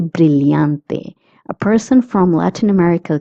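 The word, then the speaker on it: brillante: If if you're in Latin America, you will pronounce the two L's as Y.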